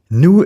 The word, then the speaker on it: nous: Nous is the standard French word for we. As you know, it is pronounced as I already said, nous, and its final s is silent.